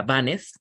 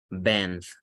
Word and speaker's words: banned: Entonces, no sería banned, se pronuncia band, como una banda de rock.